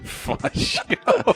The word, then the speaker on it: Faggio: Faggio. That's how it's pronounced.